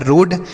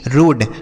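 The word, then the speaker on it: road: ओ के साथ ए है तो ओ की मात्रा यह लिखा है रोड। आर ओ ए डी रोड।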